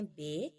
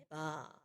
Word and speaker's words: با: کی طرح ہی ہے، مگر اردو میں ہم اس کو پڑھتے ہیں بے، بٹ عربک میں ہم نے اس کو بے تے سے اس طرح کے لہجے میں نہیں پڑھنا، کیونکہ وہ اردو لہجہ ہے۔ یہاں پہ ہم عربی پڑھ رہے ہیں، اور عربی کا جو لہجہ ہے وہ ہے با، ٹھیک ہے۔ ساؤنڈز بالکل سیم